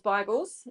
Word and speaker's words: beigel: There were loads of Jews, and we call bagels Bibles if you say it properly.